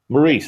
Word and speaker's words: Maurice: Morris spelled like my name, but yeah. Maurice.